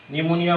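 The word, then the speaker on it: pneumonia: নিউমোনিয়া বানানটা পি দিয়ে শুরু।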